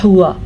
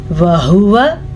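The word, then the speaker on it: وَهُوَ: खास क्या रखना है अक्सर लोग इसको पढ़ते हैं हुआ तो यह गलत है इसे क्या पढ़ेंगे हम वहुवा व को लंबा नहीं करना आपने क्योंकि व पर जबर है इसी तरह को भी लंबा नहीं करना क्योंकि मीम पर सिर्फ और सिर्फ सीधी पेश है बम अच्छा जी यह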